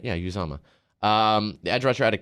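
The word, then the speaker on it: Uzomah: So it is Felix, and I can't even pronounce this dude's last name. Uzama. That's right. Yeah, Uzama.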